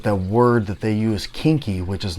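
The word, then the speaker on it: quinqui: but they are called it's weird because spelled q-u-i-n-q-u-i but it's called kinky collection and uh what i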